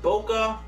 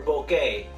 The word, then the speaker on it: bokeh: do with camera lenses you pronounce it bokeh or bouquet because I've heard both and I'm just going with bokeh it just kind of rolls off the tongue easier I don't know but